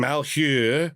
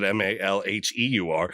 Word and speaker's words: Malheur: Voters in Sherman, Lake, Grant, Baker, and Malheur, I think that's how you say that, Malheur, Malheur counties, all voted for ballot measures that would lead them to becoming Idahoians.